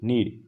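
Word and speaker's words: knead: जबकि दूसरा एक और नीड होता है जिसकी स्पेलिंग होती है के एन ई ए डी नीड इसका मींस होता है आटा गूथना और शुद्ध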